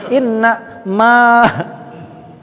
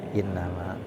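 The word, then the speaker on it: إنما: sepintas sama ya dengarnya Pasti enggak mungkin dibaca Inna Ma pasti dibacanya Inama yang ini Inama beda arti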